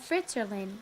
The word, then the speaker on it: Fritzerland: The village is called Fritzerland, named to rhyme with Switzerland, a place the Fritz family has enjoyed visiting.